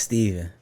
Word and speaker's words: Stephen: stuff or stuff but my name is steven but everybody always confused stephen and stefan because it's spelled with a ph yeah so i just